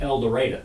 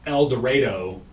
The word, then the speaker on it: El Dorado: said it properly Jamie El Dorado El Dorado it's not El Dorado like it's spelled it's El Dorado El Dorado Elder writer